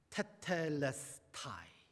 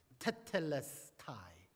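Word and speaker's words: τετέλεσται: 다 이루었다 저는이 말을 너무 좋아합니다 다 이루었다 테텔레스타이 헬라 테텔레스타이 제가 이거 오늘은 발음 잘하려고 열심히 연습했어요 테텔레스타이 아무리 헬라어 학자가 있어도 오늘은 쫄지 않으리라 테텔레스타이 한 단어 한국어가 참 번역을 잘했어요 예수님이 완성하신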